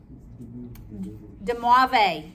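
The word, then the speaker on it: de Moivre: rule is demovice theorem de mave the r is silent all right all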